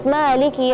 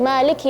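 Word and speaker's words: مالك: Terus ketika membaca maiki yaumiddin ya di kalimat Maliki yaumiddin ini kita perhatikan kasrahnya huruf kaf ya. Karena biasanya kalau kita terburu-buru kesannya sukun maiki yaumiddin.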